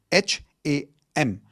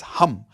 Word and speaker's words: hum: H a m. It's not ham. Okay. It's hum like how you would say hu m.